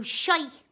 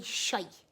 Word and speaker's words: shite: Now SHITE is the equivalent of SHIT: S-H-I-T. We say SHITE.